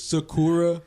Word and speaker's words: Sakura: Actually, it's Sakura. I call her. But no, Saggy. Sakura. I can't even pronounce it.